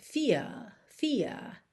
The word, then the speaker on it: fear: Quando eu isolo a palavra fear, eu posso ter fear, e, no inglês britânico, certo? Só que aqui eu vou ligar em of, então fear of acaba tendo R enroladinho.